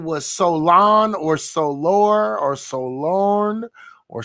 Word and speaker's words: Solon: Salon.